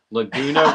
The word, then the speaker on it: Laguna: oh here we go Laguna rhymes with tuna poop rhymes with Coupe